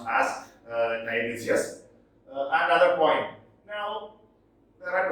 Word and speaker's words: Tiresias: Now, Tiresias, I think it is pronounced as Tiresias, another poem. Now, there are 26 poems. You know who Tiresias was?